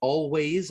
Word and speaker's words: Alvvays: let's shout them out always i believe they're always banned on um on all their socials and it's again it's spelled with two v's instead of a w so it's a l v a y s they're